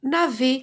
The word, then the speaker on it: navet: Le gros navet, E avec T, ET, on prononce E.